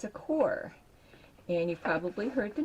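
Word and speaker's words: Qor: gotten and it's a core and you've probably heard the name he's pronounced it c-o-r-e core um even though they spell it q-o-r and this was a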